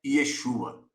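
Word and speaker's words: ישוע: e o tetragrama porém todos os que conhecem da linha Hebraica dizem que a pronúncia correta é Yeshua certo a origem da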